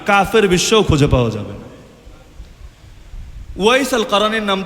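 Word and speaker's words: أويس القرني: Wise আল কারানির নাম তো সকলে শুনেছেন। আপনারা বাংলায় হয়তো ওয়াইস কুরুনি বলেন। ওই কুরুনি নামটা শুদ্ধ না। ওয়াইস আল কারান এই হল বিশুদ্ধ উচ্চারণ।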